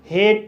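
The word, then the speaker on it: hate: एच को हा पढ़ा जाएगा, ए को ए पढ़ा जाएगा, टी को टा पढ़ा जाएगा और ई साइलेंट रहेगा। इस तरह से हेट पढ़ा जाएगा।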